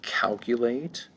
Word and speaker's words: calculate: Let's go to number 9, to calculate. Let's go to number 9, calculate. Calculate is a verb. Calculate, let's see, calculate. Calculate has 3 syllables. Calculate, the first syllable is going to be accented, calculate.